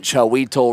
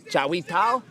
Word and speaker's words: Chawital: And I've been told I'm pronouncing Chiweto wrong, but that's all I know, folks. Chiwetal? Chiwetal.